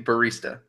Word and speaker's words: barista: say the word barista I say barista okay so so with a BER like a bird I've been thinking about